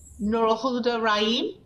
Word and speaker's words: Nurulhuda Rahim: Nurul Huda Rahim? Yes? Did I get your name somewhat right? You did great, but you can just call me Nurul.